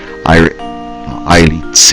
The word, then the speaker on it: Iritz: Iritz is the pronunciation of the Japanese one, so we'll go with Iritz.